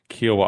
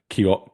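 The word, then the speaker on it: Kiawah: we 100% have played and that's Kiwa Island or as somebody on internet the other day called it Kio Kiawa which absolutely blew my mind that they would pronounce it that way but 2031 Kio Island.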